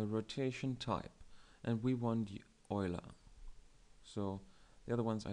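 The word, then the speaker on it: Euler: type and we want Oiler so the other ones I don't like sorry about that but um yeah I prefer the or oer oer is the correct pronunciation and that is why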